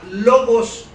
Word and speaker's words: logos: Ahora, esa frase verbo en el idioma original que está escrito en griegos significa o se pronuncia logos.